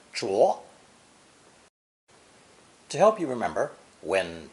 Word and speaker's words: 着: It developed 4 different pronunciations, keeping the original 4th tone zhu, but adding unstressed zh, 2nd tone zháo, and 2nd tone zhuó.